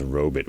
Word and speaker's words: robot: oh man hey man the inventor of the word says it's pronounced robit we're doing it we're all doing it wrong listen uh i'll i'll